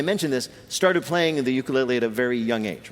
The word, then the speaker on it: ukulele: living masters of that island's traditional instrument, the ukulele. Peter's first question to Taimane, how the hell do you pronounce ukulele?